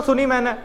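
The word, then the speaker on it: tsunami: जी जज साहिबा मगर कहा इसने और सुनी मैंने। हमें तो लूट लिया मिलके बोलने का मौका ही ना दिया। कल कल वालों ने बच्चों सुनामी का टी साइलेंट है।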